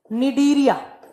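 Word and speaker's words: Cnidaria: पे लिखना है आपको निडीरिया निडरिया तीन नंबर पे आपको लिखना है निडीरिया। देखिए सी से लिखा जाएगा बट इसको प्रोनाउंस किया जाता है एन से।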